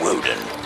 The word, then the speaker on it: Woden: Hello, I am Woden. That rhymes with Odin, but I'm mightier.